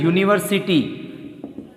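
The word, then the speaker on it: university: यहाँ एन नहीं लगेगा क्योंकि यू से उच्चारण हो रहा है और यू के साथ आर्टिकल ए आता है।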